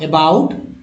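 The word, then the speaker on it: about: इसको पढ़ेंगे सम, शम, एबा, अबाउट, प्रूव, टोन।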